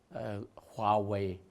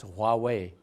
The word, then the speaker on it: Huawei: We have a very huge company, Huawei. Now you're Warwick here, a very similar pronunciation.